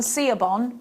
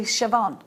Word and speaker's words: Siobhan: look you might be calling someone see a bond but her name's actually Siobhan you might be calling